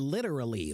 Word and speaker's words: literally: literally literally literally okay when you say a t quickly the T becomes a soft D okay so literally becomes